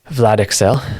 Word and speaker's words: Vlad Ixel: So how do you pronounce it? Vlad Ixel.